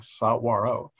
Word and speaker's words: saguaro: that's what's known as the saguaro cactus and that's spelled s-a-g-u-a-r-o sauro and if you see this in film if